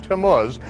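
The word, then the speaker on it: Tammuz: Biblical Hebrew calendar we have the month of tamus that's what it is on the Jewish calendar does anyone know anything about Tomas we read about to mus in Ezekiel 8.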